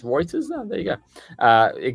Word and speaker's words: Reuters: got from the uh from roters actually Reuters roters how do you pronounce it I say Reuters Reuters all right let's go Reuters this is the cut